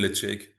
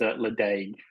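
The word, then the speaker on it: Ledaig: As Aussies mispronounce it often is a league. Le Yeah, that that's really wrong. Yeah, you can say lechik or lech. It's like the Scottish people pronounce it in their own different ways, but it's not le.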